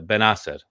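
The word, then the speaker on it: Bennacer: I'm sorry, Ben Asser. We have to pronounce it correctly, Algerian name.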